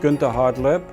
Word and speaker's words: Gunter Hartleb: My name is Gunter, properly pronounced Gunter Hartleb.